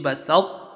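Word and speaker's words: بَسَطتَّ: So you do not say basatta with full idgham. It is idgham saying truly, but you say basatta.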